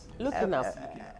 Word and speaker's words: Lhuckenharp: Our first child, looking up, got married. Oh, so you actually Looking up.